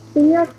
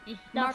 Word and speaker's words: İhlas: İlyas ne yapıyorsun anlat bakalım. İlyas değil, İhlas.